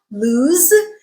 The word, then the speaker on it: lose: lose okay again remember this is produced with the z sound lose and it rhymes with choose bruise snooze okay the adjective form